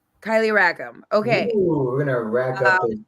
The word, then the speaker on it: Kylee Rackam: Kylie is it R I don't want to mispronounce it so can you just tell me Kylie rackam Kylie rackam okay we're gonna rack up points we're gonna